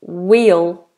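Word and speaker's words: we'll: will and will again so we will go we will go is wheel go it sounds like a wheel of a car wheel wheel whe whe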